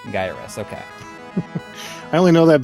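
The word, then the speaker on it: Gyruss: okay however however you say it gyrus it's pronounced guy or us gyrus okay I only know that because of the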